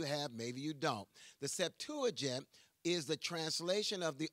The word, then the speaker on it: Septuagint: In the Septuagint, which is the translation Septuagint, S-E-P-T-U-A-G-I-N-T. Give you a couple words that maybe you have, maybe you don't. The Septuagint is the translation of the Old Testament into